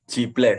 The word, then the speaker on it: Jibles: Jebres welcome jibless settles bacanya ciblek sudah kalau kalau di Jawa ciblek tapi m bagian mungkin